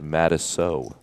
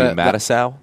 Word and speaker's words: Matiso: A lot of people don't know your last name is pronounced Matiso. Oh, they all do know. You know how many people call you Matisow?